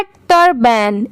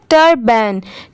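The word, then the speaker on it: turban: ये है टर्बैन, इसकी प्रोनाउंसिएशन क्या है टर्बैन, TUR टर, BAN बैन, टर्बैन।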